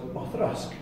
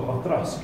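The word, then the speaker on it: Auchroisk: And that distillery was Othrusk. So, for those of you who don't know this distillery, it's A is spelt A-U-C-H-R-O-I-S-K. Oh. So, Othrusk. Oh.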